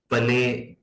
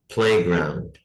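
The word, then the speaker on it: playground: प्लेग्राउंड, इसमें भी पले पले इस तरह नहीं करेंगे, पी जो है शुरू में इस पर जबर की आवाज नहीं आनी चाहिए, प्लेग्राउंड।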